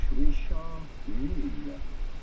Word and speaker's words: Richard Mille: In English, Richard Mille. Do pronounce the double L. Richard Mille is the typical French or Swiss French pronunciation Richard Mille.